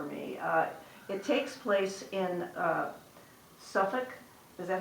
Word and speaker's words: Suffolk: It takes place in Suffolk, is that how you say it?